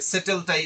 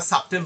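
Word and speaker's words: subtle: কম থাকে তার কাছে সেটেলটাই তার কাছে একমাত্র রিকগনাইজ করার মত এই সাটেল শব্দটা সাটেল শব্দ হচ্ছে সূক্ষ সেট ডিফারেন্ট সক্ষে বানান হচ্ছে এস ইউবিটি যেটাকে আমরা সাবটেল উচ্চারণ করে থাকিতো এইযে আপনার ওয়ার্ড রিকগনিশন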